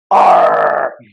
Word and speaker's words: ARRR: And the ticker symbol for Pirate is ARRR, which is pronounced R.